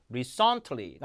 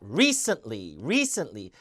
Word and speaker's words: recently: 그러니까 effort, event, recently가 아니라 recently 요 중간 음절은 쓴으로 죽이게 돼 있거든요.